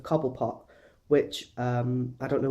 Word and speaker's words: Cobblepot: in this episode but she pronounces his surname couple put instead of cobblepot which um i don't